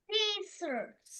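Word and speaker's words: scissors: সিজার্স, সিজার্স, ওইখানে ওইটা ওটা জয়ের মতো হবে।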